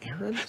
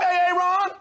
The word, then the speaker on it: Aaron: the first time i said aaron because it's pronounced aaron you done messed up a ron now take your ass on down to osha